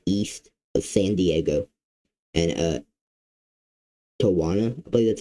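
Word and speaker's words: Tijuana: And Tawana, I believe that's how you say it actually.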